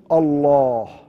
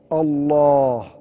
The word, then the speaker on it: Allah: want to pronounce it, there's this heaviness that enters the what? It enters the word. It is heaviness that enters the word عند النطق به, when you pronounce it. When you're pronouncing it, what's happening? It becomes heavy. فَيَمْتَلِئُ الْفَمُ, the mouth becomes heavy when you're saying it.